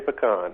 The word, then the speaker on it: pecan: do how do you how do you say p PCA an Mike we say pean all right good all